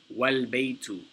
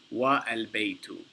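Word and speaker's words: والبيت: And he says, for example, al-baytu, here the alif is pronounced, but if it is preceded by wa, meaning and, the a is dropped and the phrase is pronounced wal-baytu, not wa al-baytu.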